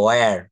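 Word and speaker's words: where: আসলে এটা হোয়ার বলবো না, এটা বলতে হবে ওয়ার। ওয়ার।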